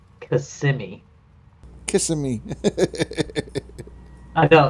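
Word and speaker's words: Kissimmee: yep yep kissing me and St it's actually pronounced cimi kissim I know it's it's spelled out kissing me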